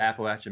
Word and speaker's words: Appalachia: of Virginia where the Appalachian Mountains go through, we say Appalachia. And from what I understand is it depends on the region that you live in as to how you pronounce it.